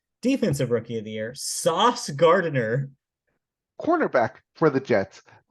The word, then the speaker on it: Sauce: This man is named Sauce Gardner. We talked about this last year when he was drafted. Am I pronouncing his first name correctly?